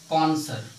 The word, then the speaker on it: connoisseur: कॉन्सर। CONSONNOISSEUR। शायद स्पेलिंग याद रखना, बहुत अच्छी इंपॉर्टेंट स्पेलिंग इसकी है।